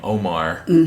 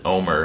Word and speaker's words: Omar: I've noticed in the cowboy poetry community, everyone pronounces his name Omar, but I've noticed the family and the locals around here pronounce it Omer.